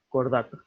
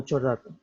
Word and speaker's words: Chordata: Se pronuncia como si esto fuese una Q o una K. Cordata. No chordata, cordata.